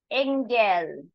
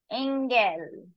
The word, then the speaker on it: Engel: day delin delin delin a this is not e it's a sound Engel Engel Engel s CR CR CR